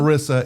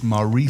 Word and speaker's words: Marisa: Marissa, it's Marisa.